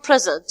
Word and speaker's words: present: For example, here the word present. All of you know the word present has many meanings. For the first one, if we stress the first part here, we say present, present. It is a noun or an adjective.